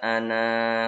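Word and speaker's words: أنا: Tulisannya ana panjang, tapi dibaca pendek.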